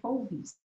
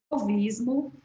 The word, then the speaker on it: fauvismo: foi o solvista a se escreve fauvismo mas pronuncia fauvismo fauvismo e o cubismo e